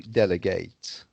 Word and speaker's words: delegate: ut okay yes and when it's uh a verb like the verb to delegate you see then it's ate rather than when it's